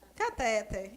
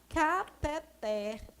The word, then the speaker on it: cateter: Normalmente a gente pronuncia catéter. E a gente escuta os médicos, as enfermeiras, os técnicos, todos eles falando catéter. Mas a pronúncia dessa palavra é cateter. Essa palavra é uma oxítona, terminada com R.